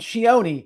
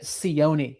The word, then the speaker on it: Cioni: And Cioni is how it's pronounced, with a C-H-O-N-E. Cioni. Tommaso Cioni. I was pronouncing it Cioni before, but that is not correct.